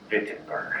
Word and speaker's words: Wittenberg: Also, let me say retroactively, now that everyone has commented on my poor German pronunciation, Wittenberg.